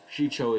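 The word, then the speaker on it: Shii-Cho: known as known as shicho um and there's various pronunciations of it um but you know shicho is how i learned it and then form two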